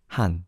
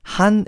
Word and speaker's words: Han: As long as you don't pronounce it with the A sound in Han, just say Han. Han, yes. Han. Han is correct.